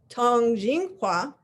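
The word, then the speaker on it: 通景画: is the topic of the day which is pronounced Tong Jing Hua and I don't know if I'll be able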